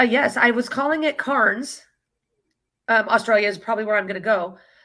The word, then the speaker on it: Cairns: laughed at me because it's called Cairns. And Cairns is spelled Cairns. So tell me how that's Cairns.